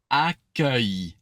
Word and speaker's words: accueil: So think UH, but like placed very high, and then E. So accueil.